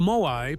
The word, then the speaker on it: Moai: The Moai, pronounced M-O-H-I, are massive stone figures carved by the Rapa Nui people on Rapa Nui between roughly 1250 and 1500 CE.